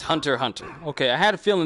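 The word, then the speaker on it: Hunter × Hunter: it's hunter but it's hunter hunter okay I had a feeling there was Hunter hunter and you just don't pronounce the X is just there I also really recommend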